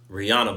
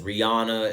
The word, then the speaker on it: Rihanna: of befitting that we discuss the Rihanna Bowl, as I've been calling it, or the Fenty Bowl, the halftime show that Rihanna just did a week ago.